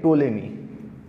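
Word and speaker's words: Ptolemy: पहेलुं credit जाय छे टोलेमी सौ पहेली क्रेडिट कोने जाय भाई टोलेमी टोलेमी नो स्पेलिंग कही दू पी टी ओ एल ई एम वाय P silent है आम हाँ टोलेमी 2000 वर्ष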